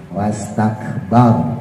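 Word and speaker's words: ٱسْتَكْبَرَ: Nah, bnya dibiasain yang dimonyongin rnya ya yang ditebalkan rnya. Wastakbar. Jadi bukan bor ya, bukan jadi o bukan bor tapi bar.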